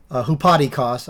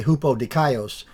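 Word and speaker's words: ὑπόδικος: Now, you see he says, he pronounced it hupadikos, I'll say hupodikaios.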